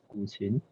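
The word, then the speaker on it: 古琴: So the pronunciation of that word is 古琴.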